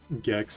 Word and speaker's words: Gex: Gex is so awesome. It rhymes with sex.